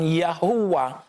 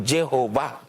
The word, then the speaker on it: Jehovah: Kaya papaano maging Jehova nga naman ang tunog dapat yan ay why or yod ano pero dahil ang Latinized version gumamit ng J at ang nang makarating ito sa mga bansa sa sa Europe tulad ng sa Germany, England at Spain, binibigas nila yung J ayon sa sarili nilang dila kaya ang Yahova ay naging Jehovah.